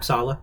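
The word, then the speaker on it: Sallah: Right, that's how you say Sala. Sala.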